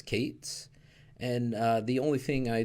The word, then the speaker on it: k8s: stick with couplet and k8s that expression I pronounced as Cates and the only thing